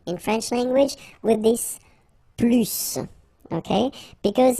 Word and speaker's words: plus: French language with this plus okay because in some cases you will have to pronounce the final s and in other cases you won't so what I would